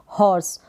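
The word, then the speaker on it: horse: जो र है ना, इस र का साउंड आधा आएगा। इस तरीके से आधा र का साउंड होगा, हॉर्स। र हम थोड़ा कम ही प्रोनाउंस करेंगे, हॉर्स बनेगा।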